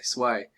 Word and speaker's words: SUI: SUI, Sway. Apparently that's the way it's pronounced.